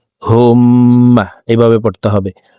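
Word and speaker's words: اللهم: তো হুমমা এভাবে পড়তে হবে। আল্লাহুম্মা আতা রব্বি লা ইলাহা লা এখানে চার আলিফ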